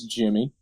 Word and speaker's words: Dgimmy: Well, my Pokemon guy's name is Jimmy. Right. Good name. Solid Pokemon trainer. His spelt DGIMMY because DG makes the J sound.